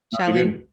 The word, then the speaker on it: Shailin: Welcome to the Programmatic Sensei's Corner, Shailin. That's how you pronounce it, right? Did I butcher it already? Shailin.